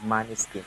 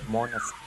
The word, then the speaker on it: Måneskin: I always pronounce it wrong. I always said Måneskin. It's Måneskin.